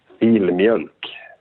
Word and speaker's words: Filmjölk: It's Filmj, and then there's the umlaut on the OLK. Filmjölk.